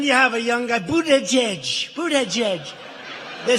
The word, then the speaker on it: Buttigieg: And then you have a young guy, Buttigieg.